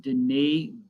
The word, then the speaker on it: Denis: Okay, we got 3 left, and the next thinker is, his name is pronounced Denis Diderot.